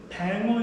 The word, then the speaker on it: 뱅어: 우리가 뱅어 있죠? 뱅어. 속 투명한. 그거는 백어라고 했는데 이응을 붙여서 뱅어라고 하는 거고요.